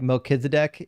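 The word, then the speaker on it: Melchizedek: Although, I mean, um I I hate that in English we spell it Melchisedc when it's like Meekisedc in the whatever says, "Uh, we're arguing over how to pronounce Oh, there we go.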